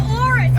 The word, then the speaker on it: Auris: It's a Toyota Auris, and it rhymes with Chorus.